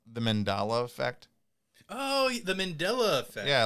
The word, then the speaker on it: Mandela effect: a whole episode of the mandela really because it's the mandela effect or or was it wait or was it the mandala effect oh my god no it's the mandela effect it was i mispronounced it but it's fine although